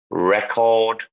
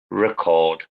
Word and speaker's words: record: So address and address, you know, where it's always on the noun, it's always the first syllable, but on the verb, it's always the second syllable. Produce, produce, record, record, design, How do you design.